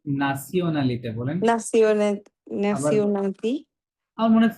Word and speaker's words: nationalité: Quelle est ta nationalité? নাসিওনালিতে বলেন। Nationalité. আমার মনে হয় ফ্রেঞ্চ Quelle এটা আরো বেশি ভালো করে উচ্চারণ করে।